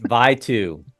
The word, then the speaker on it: Vitou: It's Vitou. No. Yes, it is. It's spelled Vitou. Hit you, Vitou.